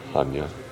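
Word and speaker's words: Chania: by the Waterfront in haa or chenia as it's spelled and photos of everything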